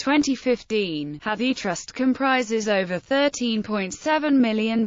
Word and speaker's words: Hathi: trust's Library preservation copies Hadi pronounced hati is the Hindi and